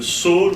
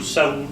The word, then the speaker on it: Saul: Il y a un type qui s'appelle Saul ou Saoul, je ne sais pas, on prononce comme on veut, ça dépend des traductions.